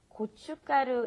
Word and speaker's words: 고춧가루: There's a shiat in there, and it's not pronounced.